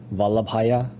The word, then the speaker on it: Vallabhaya: The fifth part, Vallabh, is a B at the end. Vallabh, Haya, Vallabhaya. That's how you say it.